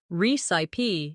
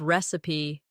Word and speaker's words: recipe: Beginners sometimes say recip instead of recipe or comfortable instead of comfortable.